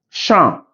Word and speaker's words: champ: sorry when you see a word in French that end the consant P mostly not pronounc merci beaucoup ok merci beaucoup beaucoup beaucoup end with you beaucoup no champ femme ok P le